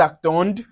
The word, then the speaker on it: attendent: attendons, vous attendez, ils attendent, elles attendent. So, remember for the je, tu, and il L, the D is silent. And for the plural, the ENT is not pronounced.